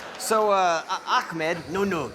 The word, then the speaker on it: Achmed: So, uh, Akmed. No, no, it's Akmed.